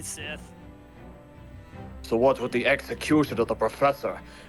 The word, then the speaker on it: Scythe: Why do you keep mispronouncing it? It's clearly Sith.